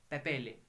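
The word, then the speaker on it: papillae: क्या बोलते हैं, उनको हम बोलते हैं एज पेपेले, पैपीले, क्या बोलते हैं, पैपीले, स्पेलिंग देख लेना, पैपीले उनको कहते हैं, अगर एक होगा तो पैपीला तो बहुत है पैपीले, ठीक है स्टूडेंट्स?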